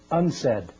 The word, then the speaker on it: UNCED: Nations committee for environment and development it is pronounced unsaid and perhaps indicating the secret agenda of this